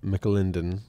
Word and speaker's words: McAlinden: had so that was dave mclinden is how i'm going to pronounce his name it's m c a l i n d e n and that was his